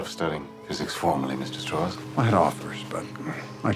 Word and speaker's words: Strauss: Strauss. It's pronounced Strauss.